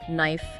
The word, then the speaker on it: knife: Your knights give some classic examples, ones learners often stumble over like uh the silent K at the start of words like knife, no, knee.